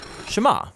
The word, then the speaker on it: Shema: is hear or listen which in Hebrew is pronounced shama that's where the prayer gets its name now